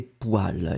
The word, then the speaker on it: poêle: attention donc la première chose est bien ses poils et poils comme vous voyez sur l'écrit bizarrement parce qu on le prononce waouh mais on l'écrit pour elle alors